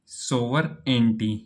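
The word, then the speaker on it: sovereignty: सोवरेंटी, यहां पर क्या है? जी ये साइलेंट है।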